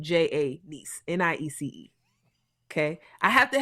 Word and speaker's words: Janiece: It's Janiece. So if you forget anything, just think how you got a nephew and you got a niece, spelled the same way. Janiece.